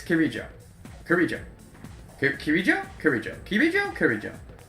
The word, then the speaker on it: Kirijo: No, I said it right then, yeah, not Kijiro, Kirijo.